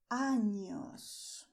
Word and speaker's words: años: Pay attention that you have here the letter N with the symbol above it, and you're going to pronounce años. Años. Año is year, and ano, without this beautiful thing here, ano means anus, so do not mix them.